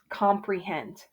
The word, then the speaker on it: comprehend: For my O, do I hear the long O sound O, or do I hear the short O sound ah? Comprehend. Comprehend. Ah. I definitely hear ah.